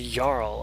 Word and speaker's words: Jarl: And it's a Jarl. I wasn't pronouncing it correctly.